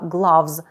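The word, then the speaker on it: gloves: sheard ashirt Shoot слів Зверніть увагу на вимову слова главз де о читається як А energator for Hot and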